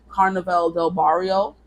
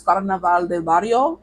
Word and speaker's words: Carnaval del Barrio: movie when they're singing Carnaval del Barrio, and I said it so white, I'm so sorry. I don't feel like, trying to pronounce all those R's and, it's Carnaval del Barrio, essentially.